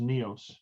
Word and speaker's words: Nios: use by the way it's just pronounced neos neos okay i keep saying that wrong yeah anyway we need